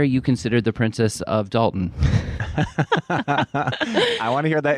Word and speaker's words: Dalton: Most people pronounce it Dalton, not Dalton. It's Dalton. Yeah. It's Dalton, like mountain. Dalton. Yeah, Dalton. Anyway, moving on. I'm not from here, so I say Dalton, but most people drop the T.